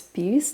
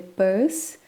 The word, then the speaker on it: Peirce: autores são charles sanders pires na verdade a pronúncia do sobrenome dele é paz como o bolsa em inglês e o ferdinand de